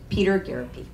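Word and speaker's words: Peter Gariti: candidate for City Treasurer Peter garety thank you for pronouncing my name correctly so normally when your name is not phonetically spelled you need something that arrives with mine rhymes with therapy so krp therapy my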